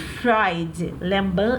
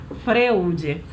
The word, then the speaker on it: Freud: Sigmund Freud. Lembrando que Freud não se escreve Freud, se escreve Freud.